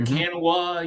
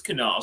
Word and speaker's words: Kanawha: how you pronounce it you can quickly tell who's from in town and out of town you'll hear quinoa you'll hear Canada you'll hear random stuff and it's like no it's Canal so you actually said